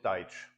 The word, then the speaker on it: Deutsch: and they called German, Deutsch, this is a German word, Deutsch, they pronounced it Deutsch, which sounds sort of like Dutch.